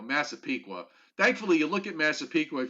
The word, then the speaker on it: Massapequa: thankfully you look at massapequa if you look at it long enough you it you you say it the way it's spelt so that at least